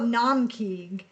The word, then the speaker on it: Naumkeag: Now we're going to talk about Naumkeag, which is spelled n a u m k e a g.